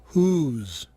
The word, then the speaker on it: whose: Ouçam agora dois casos de palavras bastante usadas onde o W não é pronunciado. Whole? Whose.